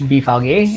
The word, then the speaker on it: BVG: There's usually a kiosk with BVG, pronounced BVG in German, or at the very least machines where you can purchase tickets.